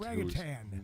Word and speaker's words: orangutan: He calls him He calls him He Anyway, he misp pronounces the word orangutang. And you know, and this is a well- read guy, Wink Martindale. God bless your soul, you furry beast. Orangutan.